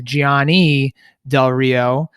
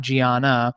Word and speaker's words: Gianni Del Rio: The student's name is Gianni Del Rio, not Gianna. So it's Gianni Del Rio.